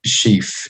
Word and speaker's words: Schefe: Today we're going to be having a bit of a chat with David Schefe. Is that how I pronounce it correctly, David?